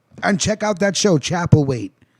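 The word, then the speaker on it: Chapelwaite: what they say and check out that show chapel wait it's spelled c-h-a-p-e-l-w-a-i-t-e it's on epics but if you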